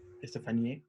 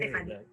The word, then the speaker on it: Stephanie: Estefanía, lo estoy pronunciando bien. Pasa que Stephanie.